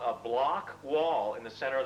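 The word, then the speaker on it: Bloch: The block wall, which is spelled B-L-O-C-H, is this null zone, like the doldrums of the equator.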